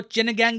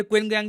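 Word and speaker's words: 秦刚: हाँ, बाय द वे इनके नाम की प्रोनाउंसिएशन दो है, एक तो चिन गैंग भी इनको कहते हैं, फिर क्विन गैंग भी कहते हैं।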